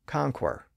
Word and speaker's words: conquer: If we were to pronounce that word like it's spelled, we would probably say conquer, because QU normally represents the qu sound. And in fact, that was the original pronunciation of the word in English.